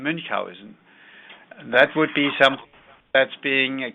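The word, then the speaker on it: Münchhausen: days we called it mun Housen syndrome in English it's called Munch Housen but Mr mowen pronounced his name mowen that would be that's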